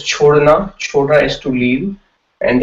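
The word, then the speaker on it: छोड़ना: So it's chhodna. Chhodna is to leave, and that's how you pronounce it, chodna, right?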